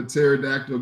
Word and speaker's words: pterodactyl: can't you hear a pterodactyl go to the bathroom you gotta really think about this because the p is silent um what do you